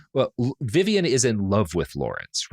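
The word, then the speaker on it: Vyvyan: And it's like spelled V Y an's name but I think it's just pronounced Vivian.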